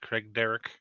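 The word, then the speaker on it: Craigdarroch: Craig Darroch? Craig Yeah, Darroch? we called Darroch? it. That's probably the technical way, Scottish way to say it. We called it Craig Derrick in Craig Derrick.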